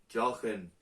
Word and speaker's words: Johan: Y hay que decir que los catalanes tenéis que mejorar la pronunciación de mi nombre. Porque yo me llamo Jochen. No, Jochen.